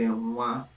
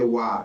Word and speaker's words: Nwa: The Igbo accent, which is the eastern part of Nigeria, we will say Nwa, NW, Nwa. So, but if you say Wa, that's fine. That's okay.